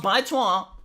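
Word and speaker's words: 白左: Baizuo, pronounced Baizuo, is a Chinese epithet meaning naive, Western educated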